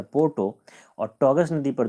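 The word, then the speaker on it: Porto: ओ पी ओ आरटीओ तो ऐसे तो उसको अगर पढ़ा जाए तो पढ़ा जाएगा ओ पोर्टो लेकिन ओ साइलेंट है इसलिए इसको पोर्टो पढ़ेंगे तो यह शहर है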